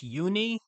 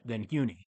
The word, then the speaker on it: Huni: I believe it's Huni. I believe there's a silent H there.